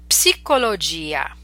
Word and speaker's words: psicologia: Okay, so these are words we're familiar with, but in English we do not pronounce the P, whereas in Italian you must pronounce it. Let's practice them. Psicologia, psicologo, psichiatria, psicosi, psoriasi.